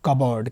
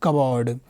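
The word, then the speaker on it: cupboard: कपबोर्ड क्या बोलेंगे कबाड़ सी ओ पी बी ओ ए आर दी कब और है ना पी साइलेंट रहेगा क्या बोलना है कब और क्या बोलना है कब और पी साइलेंट पीली बोलना कपबोर्ड नहीं बोलना कपबोर्ड कपबोर्ड क्या बोलेंगे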